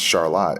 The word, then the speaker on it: Charlotte: But the city is called Charlotte, spelled the same as Charlotte, right? I didn't know that. But it's pronounced Charlotte, and they had a